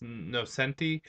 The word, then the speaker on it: Nocenti: And I guess I pronounced her name wrong. It's Nocenti.